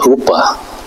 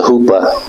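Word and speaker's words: Chuppah: And then the second stage is called the Huppah. The Huppah, where the C is silent.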